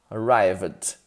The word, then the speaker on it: arrived: Arrived, ok? Lembrando que esse ED é um sopro, arrived. Ele não vai formar sílaba com a última consoante aqui muito forte, não.